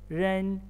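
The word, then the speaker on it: 认: be pronounced it is the r can be pronounced as you pronounce the r in bird bird bird so here ren it means that glad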